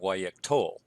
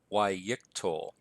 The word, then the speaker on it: Yiqtol: Also notice that the accent has shifted back to the second to last syllable, so it's Yiqtol rather than Yiqtol.